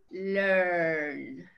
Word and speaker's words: learn: Tampoco el sonido de la A queda, ¿no? O sea, es decir, no figura mucho. Es como learn. Learn. Volvemos al símbolo del tipo de la palabra aquí. Tenemos como este 3. Pero ¿cuál será el sonido, no? Si lo tenemos con los dos puntitos es que se alarga ese sonido. ¿Pero qué sonido será? Bueno, pues learn, learn, earn, earn. Sí es como una E, pero no es tan